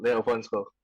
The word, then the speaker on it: Leovonzko: Nama belakangnya boleh dong dipronounce agak berani, Leofonsko? Ya betul, Leo Fonsco.